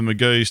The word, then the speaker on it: Magoo: He's had a couple of games for the Magoos to try and boost his form. Now, I've been pulled up on this. Magoo, rhymes with number 2. Mr. Magoo, number 2. Are you with me now?